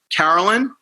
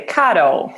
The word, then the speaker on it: Caro: We have all the way live from Brazil, Carolyn. Is that correct? Did I pronounce it correct? Nearly. Caro. Caro. It's like Carol.